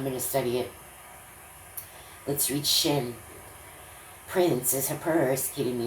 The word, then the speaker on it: Shin: I think that's why they called this letter this, Shein. And I don't know why they spell it like this, SCHIN. When I see it, it's SHIN. But it's sh sound.